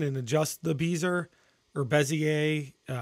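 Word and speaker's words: Bézier: You can still go in and adjust the beezer or bezier. People pronounce it two different ways. I think the correct term is bezier, but I've been calling it beezer all through high school and everything.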